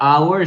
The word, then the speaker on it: hour: it's perfect okay remember even though our starts with a consonant we don't pronounce the H so should be an